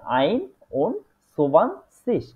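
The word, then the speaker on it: einundzwanzig: 20 21 ঠিক আছে সেটাকে হচ্ছে এভাবে বলে আইন সুবান সিস তাহলে আমরা নিচে দেখতে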